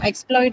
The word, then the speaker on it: exploit: Now exploit is again uh something that can be used as a noun uh and a verb. So which means it will have both right. So on the first syllable if it is used as a noun on the second syllable if it is used as a verb right transportation transportation shin